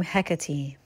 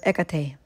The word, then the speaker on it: Hecate: I have a burning question about the proper pronunciations of the name Hecate.